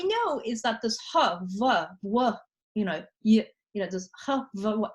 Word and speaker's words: Vav: says Yahweh or Yod Vav Hey Vav. Okay, and the Vav, if you know Hebrew, can be pronounced Wa, according to the kind of one set of pronunciations, or more commonly is pronounced va.